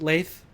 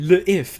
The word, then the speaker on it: Lethe: It's actually le if, as in French, the if.